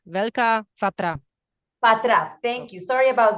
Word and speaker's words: Veľká Fatra: Velká Vrafa. Sorry, Monica, could you help me with the pronunciation, the correct pronunciation of the national park? Yes, it is National Park Veľká Fatra.